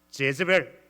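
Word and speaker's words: Jezebel: 영어 단어도 그냥 이세벨 이래 하지 않아요. 제즈벨 이래 해.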